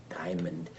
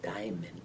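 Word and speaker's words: Daimon: the cat's name is Diamond but people aren't pronouncing it right he said no it's not Diamond it's Diamond d a i m o n it's your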